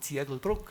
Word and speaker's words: Ziegelbrücke: mayor encontramos formas como la alemanizada Ziegelbrücke, que en el uso tradicional oral, sin embargo, se pronuncia como Ziegelbruck, o sea, representando la característica fonética dialectal.